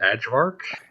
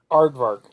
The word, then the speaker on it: Aardvark: I'm just assuming that Beat pronounces it Adjvark. No, I just call him by his normal name. Aardvark.